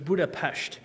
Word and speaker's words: Budapest: least from hungarian's perspectives if you see an s in the hungarian language it makes the sh sound so it is buddha pasht and then if you want to say an s like we say it you have to spell it s z so actually you can